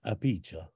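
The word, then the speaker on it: Apicius: another pronunciation oh well in Italian you know Italians pronounce Latin as if it's Italian because it is it's an old Italian so uh they say apica so I don't know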